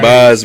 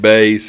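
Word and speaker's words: JP Buys: every time man yeah it's spelled just like buys but you gotta say it bass okay so jp bass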